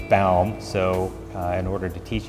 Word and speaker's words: Baum: pilot that of course wanted to call me but it was bound so in order to